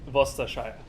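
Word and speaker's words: Worcestershire: upgrades pretty much everything okay so you do pronounce it vostashai okay but true british food done well is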